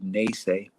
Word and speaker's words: Nese: called and that's where i say naysay because naysay is the first two syllables of my anishinaabe name that i was given